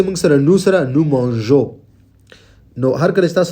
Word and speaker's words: mangeons: ای مو ځکه راوړی د جی تلفظ دپاره چې دا صحیح تلفظ وباسي. که چېرته دې سره موږ ای رانوړو دا به نو مانګو راشي چې کوم غلط دی. نو مانژو دپاره به موږ تاسو دې سره ای راوړو، صرف به تلفظ صحیح غږ ویستلو دپاره، او او ان اس